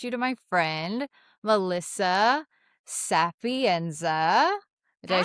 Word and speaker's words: Sapienza: But I wanted to introduce you to my friend, Melissa Sapienza.